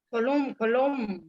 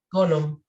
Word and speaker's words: Coulomb: El modelo matemático que explica la fuerza de atracción o repulsión entre dos cargas es llamado ley de Column. Coulomb. Correcto. That's correct.